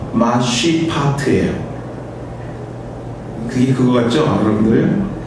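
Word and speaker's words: משפט: 이것과 대꾸로 사용되는 정의는요, 히브리 원어의 발음이 어떻게 되냐면요, 마쉬파트예요.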